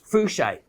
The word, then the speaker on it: fuchsite: aluminum in fuchsite fluchite now we've heard this pronounced many different ways it's a variety of muscovite uh but flushed i think is the the one uh agreed upon by the industry as to what to call it so how you get